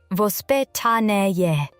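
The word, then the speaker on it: воспитание: In Russia, parenting has traditionally been influenced by a concept called vospetany, pronounced vpetan.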